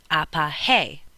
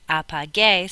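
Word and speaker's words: apagué: Because remember that G, when it's followed by the letters E and I, is pronounced like an H, so apahe. We want to make it apage, so how do you make it gay? We change it from G to GU, and we get apage.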